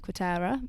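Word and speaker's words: Quarteira: And luckily we have been able to come to Portugal this year in your beautiful house in Quatera. Am I pronouncing that correctly?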